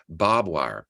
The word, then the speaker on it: barbed wire: wire I spelled it barbed wire b-o-b-wire because people say barbed wire barbed wire and where I grew